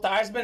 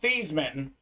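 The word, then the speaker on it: Theismann: of these guys gonna be haven't uh Joel Theisman actually his name was pronounced Joe these men but at Notre Dame uh the pr staff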